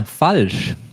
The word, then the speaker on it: falsch: And then another new one, falsch. falsch. Falsch, that means wrong, or you can also translate it as false. It basically sounds like the English false, and it's also related to that word.